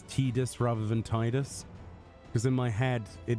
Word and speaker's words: Tidus: doesn't make sense that it'd be called Tedus cuz Tidus the game's about water tide but apparently a lot of people think it's Tedus which makes no bloody sense.